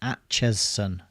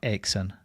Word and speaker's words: Acheson: Atchison. Okay, Atchison. Yeah, that makes sense. Yeah, looking at it now, I can see why it would be Atchison and not Acheson. But it does look like ache.